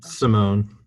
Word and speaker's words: Simone: right i don't know simone the moan matt started his career